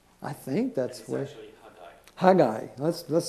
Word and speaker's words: Haggai: old testament and hey hey guy it's not haggy eye why do i always say haggy either because